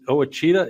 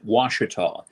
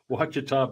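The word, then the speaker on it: Ouachita: want to say oh oh a cheetah is that how you say it yeah it looks like it's an indian name but it's pronounced washita doesn't look at all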